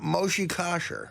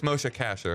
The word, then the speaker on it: Moshe Kasher: Natasha lerro and uh Moshi kaser no close but it doesn't matter mha mosha kaser Mo it's mosha Casher mosha Casher Casher like money Casher yeah